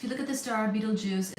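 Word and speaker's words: Betelgeuse: compare that if you look at the star Beetlejuice it's going to supernova I mean I meant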